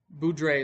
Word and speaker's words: Boudreaux's: awesome definitely this uh boudre is i think it's how it's pronounced not bordeaux's boudreaux's butt paste you want